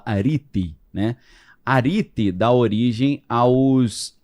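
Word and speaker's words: ἀρετή: Porque virtude em grego se escreve areté, mas fala arite, né?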